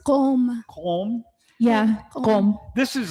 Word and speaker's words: Qom: Home.